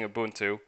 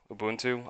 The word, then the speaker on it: Ubuntu: Like, if you were just like basic entry level, you're using Ubuntu, and then there were, how do you say it? Ubuntu.